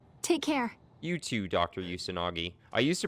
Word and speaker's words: Usanagi: I used to pronounce her name wrong, and I used to say Dr. Usanji, which is what it kind of looked like to me, but I know how to pronounce her name now.